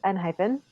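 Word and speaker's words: ENHYPEN: Yeah, but I think it's N-hyphen. They don't have F. Right. They don't have an F in F. There's no F in Hangul. So it's N-hyphen.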